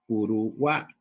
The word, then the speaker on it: Uruguay: Y acá tiene sonido de I latina, entonces, internamente, Uruguay. La vocal tónica es la A, rodeada de vocales átonas, ¿no?